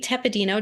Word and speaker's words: Tepedino: And today I have Tepedino. Did I pronounce that correctly?